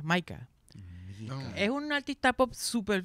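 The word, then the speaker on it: Mika: saben del cantante británico mica se escribe mica con k Maica es un artista pop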